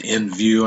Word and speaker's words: NVU: And this says it's pronounced NU. So you can call it that if you want to. NView, I mean.